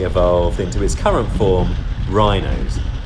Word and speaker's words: Wrynose: into his current form rhinos still pronounced locally as renus according to wikipedia and